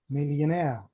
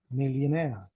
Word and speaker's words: millionaire: Pay attention, the stressed syllable is naire, millionaire, millionaire.